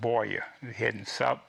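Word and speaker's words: Buea: to a town called Boya, heading toward the coast, and Boya is spelled, by the way, B-U-E-A. Can you get Boya out of that? Not unless you told me.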